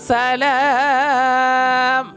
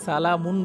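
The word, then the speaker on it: سلام: তানাজ্জালুল মালাইকাতু ওয়ার রূহু ফিহা বিইজনি ربهم من كل أمر মিন কুল্লি আমরিন সালাম, এখানে সালাম হবে, অনেকে সালামুন পড়ে, এটা ভুল।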